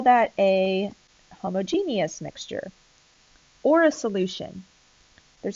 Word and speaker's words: homogeneous: We have heterogeneous mixtures and homogeneous mixtures, which is sometimes pronounced homogeneous. So either way you pronounce it is fine.